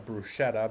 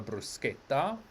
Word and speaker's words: bruschetta: restaurant you'll see that you will not find a bruschetta but you'll have a bruschetta and then spaghetti we